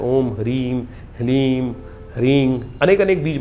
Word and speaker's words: ह्रीं: ह ह के पैर में र है, फिर उसमें साथ ही में ल लगा हुआ है और ऊपर से बड़ी की मात्रा बिंदी। ओम ह्रीम, इसका उच्चारण इस प्रकार से है।